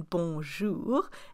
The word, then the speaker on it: bonjour: And that's why the jour, which means day in bonjour, is spelled O-U. That's a OU sound, bonjour.